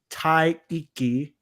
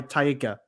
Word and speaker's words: Taika: I'm back to square one, which is why Taika. Now, he said this in an interview with Tessa Thompson. He's pronouncing all of the vowels and he's not adding anything else in.